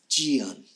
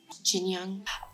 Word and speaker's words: Jiyeon: The captions spell it J-I-Y-E-O-N. 2 separate words, but they pronounce it like Jinyoung. Like they add like an N sound in there. And I don't know if that's how you pronounce that. But based on the pronunciation of the actors, I'm going to say Jinyoung.